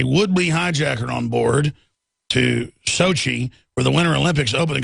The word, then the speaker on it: Sochi: that Russian town you think I'd know it Sochi Sochi turkey F-16 scrambled to foil Sochi hijack attempt AFP reports turkey scrambled a jet Friday to sh airliner from Ukraine after a Woodly hijacker on board to Sochi where the Winter Olympics opening ceremony was underway